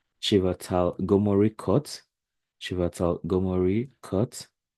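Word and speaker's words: Chvátal: also have this is a bit difficult to pronounce but it's something like chatal chatal Gori cut chatal Gori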